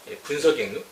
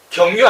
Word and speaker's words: 분서갱유: 분서갱유, 분서갱유, 경유 아니죠.